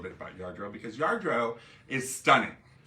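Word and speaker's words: Lladró: and they're from spain the double l is pronounced as a y yardro hi mom marilyn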